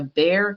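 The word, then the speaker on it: Bexar: forward at some point to now coming to bear county now that i know that that is how it's pronounced so i appreciate all of you who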